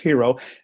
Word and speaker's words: Hero: Yes, it rhymes with euro and peso, so it's kind of memorable. So we picked Hero, and it's tied into